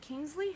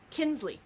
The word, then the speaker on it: Kinsley: and he meets Kate is it Kingsley how do you say her name Kinsley Kinsley is her name and she works